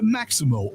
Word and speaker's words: Maxymo: The Maximo app, which is spelled Maxymo, it helps Uber, Lyft,